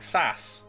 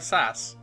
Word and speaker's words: SAS: Pronounced like sass. SAS is pronounced like sass.